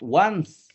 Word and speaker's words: once: Ya, I have been in Europe once. Ini dibacanya once. Ya. Once. Ya, bukan once. Ya. Kalau once itu vokalis Dewa 19.